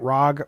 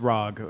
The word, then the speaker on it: ROG: Am I saying it right? Rag. Rag. Rag. It's ROG. You know what ROG stands for?